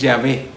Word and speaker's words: Yahvé: Los hebreos hablan de Yahvé. En español se dice Jehová, pero en hebreo es Yahvé.